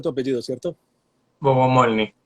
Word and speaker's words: Bogomolni: O sea, así se pronuncia tu apellido, ¿cierto? Bogomolny. Bogomolny.